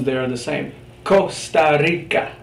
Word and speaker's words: Costa Rica: Costa Rica, the hard K. Well, that's the case if it comes before ca, co, or cu.